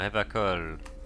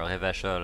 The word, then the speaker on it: Revachol: The title on top reads, Bienvenue à Revacol. Or Revachol, I think they pronounce it when they speak in their French accents.